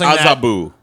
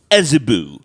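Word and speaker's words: Azabu: expensive is this place called a tsuba probably pronounced as Abu as Abu possible as Abu as Abu I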